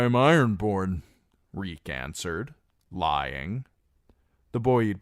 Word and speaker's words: Reek: "Reek, I'm Reek. It rhymes with squeak."